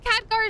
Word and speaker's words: Khadgar: What if Khadgar is just taken prisoner? Yeah, that was the right way to pronounce it.